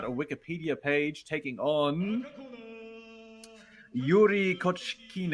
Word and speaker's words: Iouri Kochkin: Pride 22 where Quadro's called him Ennouri or Ekuree Kochkin instead of uh Yuri Kochkin. Maybe that's how you say it in Japanese, Ennouri.